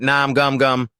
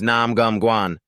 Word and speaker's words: Nam Gum Guan: He suddenly calls out, but gets his name wrong. "Hey, you idiot, Nam Gum Gum." Guan corrects him, "My name is Nam Gum Guan."